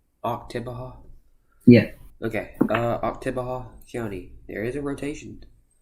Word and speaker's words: Oktibbeha: Oktibbeha. Oktibbeha? Yeah. Okay. Oktibbeha County.